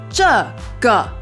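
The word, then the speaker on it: 这个: It sounds like jaw kind of.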